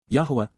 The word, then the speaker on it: Yahuwah: Yahuwah, Yahuwah, the proper pronunciation of the name of Eloah, God as directed in his Torah, teaching regarding his higher